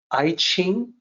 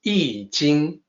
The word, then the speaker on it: I Ching: And please note, when I say I Ching, that is the way it is pronounced. It is also the way people are supposed to pronounce it using the Wade-Giles romanization system. It is not I Ching, it is not I Ching, it's I Jing.